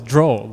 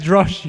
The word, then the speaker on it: draw: It turns out the word was draw, you know, with the W. The guy read as drosh, you know.